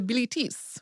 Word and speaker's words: Bilitis: Then in 1895, Pierre Louu published Shansson de Bilitis, which was supposedly a collection of newly discovered poems written by one of Safo's female students who was named in the French pronunciation Bilitis.